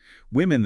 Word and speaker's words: Women: Women that short I sound.